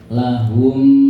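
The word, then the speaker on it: لَهُمْ: Contoh ya Bu, tulisannya lahum ma yattaqun, tidak boleh dibaca seperti jeda. Lahum ma, nggak boleh. Berarti itu dijenengan baca idhar, jelas. Tidak boleh, karena ini idgham, sehingga harus didengungkan. Lahum, ini mimnya bunyinya 2-3 ketuk, jadi tidak boleh dijeda.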